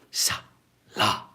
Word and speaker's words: Salah: Salah.